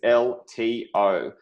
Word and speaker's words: LTO: Hey guys, it's BlockchainBrad, and today we're talking about all things LTO. That's right, and if you know about that, it rhymes with workflow as well, and that's because they're bringing business to the blockchain in a serious way.